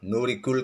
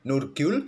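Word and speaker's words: Nurgyul: ada yang tes tadi Saya menyebut nama nurigul kawan bacanya nurgul salimova e Memang Lidah admin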